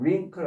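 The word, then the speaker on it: wrinkle: 링클 링클에서이 W는 발음이 안 되는 것이고요. 없는 것처럼 그냥 링클 하시면 돼요.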